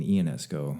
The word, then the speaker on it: Ionesco: And one curious note about the band is it's actually pronounced Eugene Ionesco.